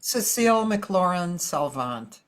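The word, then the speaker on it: Cécile McLorin Salvant: I'm Yeah, Cecile McLaurin Salvant. Cecile McLaurent Salvant. Yeah, Okay. yeah. Yeah. Only your pronunciation is a lot better than mine.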